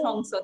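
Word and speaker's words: Hong Sau: Yes, it is pronounced as Hong So.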